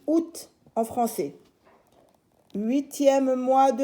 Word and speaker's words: août: n'êtes pas à école alors août s'écrit à août àoût mais se lit août en français 8e mois